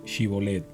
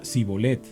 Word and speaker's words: Shibolet: Si decía el hombre: «No, no lo soy», ellos le pedían que pronunciara la palabra Shibolet. Si era de Efraín, diría Sibolet, porque a la gente de Efraín le cuesta pronunciar bien esa palabra.